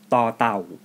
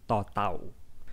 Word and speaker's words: ต: It has an equivalent sound in English, which is the English T when you pronounce the word star. Or if you speak Mandarin Chinese, it is the same as the in the word ta.